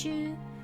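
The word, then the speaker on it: 中: we have middle school the first kanji is pronounced chu and the second gaku again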